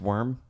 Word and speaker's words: Wyrm: a snake dragon what Wyrm that is pronounced worm verb cuz the W